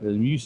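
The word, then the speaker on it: Meuse: Muse is the French uh pronunciation and mass is the Dutch pronunciation that flows north through uh well through here where we are uh through Dant up into Namur.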